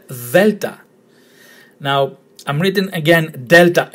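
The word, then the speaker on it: δέλτα: But if you see the letter delta, it's pronounced the, as in there and then.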